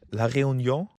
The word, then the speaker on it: La Réunion: Took him one in La Réunion, if that's how you pronounce it. Yeah, that's okay. La Réunion.